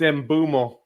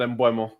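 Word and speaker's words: Mbeumo: By the way, just to point out as well, uh, yaba, it's embumo, not embo.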